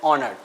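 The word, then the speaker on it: honoured: ऑनर्ड। तो एच जब silent है स्टूडेंट तो यहां आप इसे ओ से उच्चारण करते हैं।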